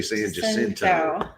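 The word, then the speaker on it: San Jacinto: gonna say it different hinto yeah I was gonna say it like that we say in Texas we say San jinto all right uh with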